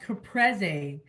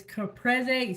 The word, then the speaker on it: Caprese: mushrooms we're going to do that and it's pronounced capre I just looked it up on how to pronounce it it's capre skewers we have some more Tomatoes we got